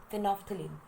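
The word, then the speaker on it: phenolphthalein: इसकी प्रोनाउंसिएशन में कई बच्चों को मुश्किल आती है मेरी तरह. सो इट इज़ फिनोफ्थलीन.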